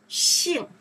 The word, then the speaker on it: 姓: Xing, summer name, last name.